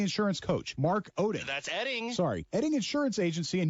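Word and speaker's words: Oetting: hold on it's pronounced eding but it's spelled o e TT n g yes and o e TT iing it's pronounced eding okay so it's like the O is silent o e TT iing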